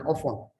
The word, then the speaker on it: Ofon: My name is Engineer Ofon. Ofon is spelled O-F, off, O-N, on, off and on, join together.